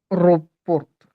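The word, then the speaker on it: aéroport: Pronunciation A. पी ओ आर, Aeroport.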